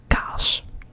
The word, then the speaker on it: kaas: You can see that there are two A's in a row, which produces a sort of longer A sound. So instead of got, we have kaas, kaas, kaas.